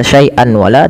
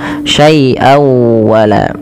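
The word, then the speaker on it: شيئا ولا: tanwin ketemu dengan wau cara membacanya masukkan suara tanwinnya pada lafal syaian kepada huruf wau dengan kita kenal dengan istilah idgham memasukkan bewun maka sawa masuk ya bukan hanya sekedar saian wala tapi masuk syai wala nah langkah kedua digunah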